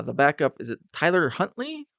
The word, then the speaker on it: Huntley: this injury uh the backup is it Tyler Huntley Hundley yeah how do you say his last name something like that Huntley yep yeah yeah he looked like he did